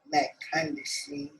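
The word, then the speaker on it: McCondichie: Then McCondishi.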